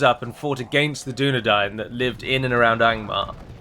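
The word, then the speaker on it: Dúnedain: sure you know it's the pronunciation of the um a i combination of letters that's present in both arthadine and dunadine and of course it is pronounced as dying as if one were to sit down and dine with us and not dane as in dane ironford whereas the gentleman called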